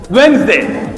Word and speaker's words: Wednesday: So this is pronunciation English pronunciation witness day or Wednesday. Wednesday when D is not there it is silent.